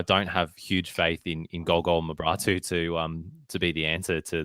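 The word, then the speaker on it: Golgol Mebrahtu: have huge faith in Golgol Mabratu to be the answer to the Roar's goal-scoring problems. So what did you say his name was? Because I'm pretty sure Bozza called him Go-Go Mabrato.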